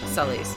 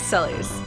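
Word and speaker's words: Celes: pronounce various names and they came to the conclusion that Celie and Sulli's were pronounced basically like very similar like it's just the difference between like and like scary and serious ooh so at least I can say that the Japanese fans pronounced it that way but some people get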